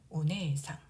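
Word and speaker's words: お姉さん: 네에는 에 모음이 연속으로 와서 에 장음으로 발음하면 됩니다. 오네상, 오네상.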